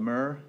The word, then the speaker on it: MURR: Is that called MURR? Is that how you pronounce it? Okay, MURR.